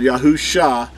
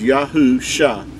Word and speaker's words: Yahusha: in ancient hebrew but yahoo shah it makes the ah sound yahusha is how you would say the the mashi the messiah's name pronounced as yahoo shah is the way you